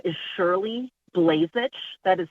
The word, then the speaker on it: Blazich: for taking my call my name is Shirley blazich that is spelled sh h iir l y last name